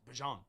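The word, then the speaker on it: Bijan: Drake London, Bjon Robinson, now add a young back. You got to call it correct. Yeah, he changed the way you pronounce the name. It's not Bjon, it's Bjon, like honey don.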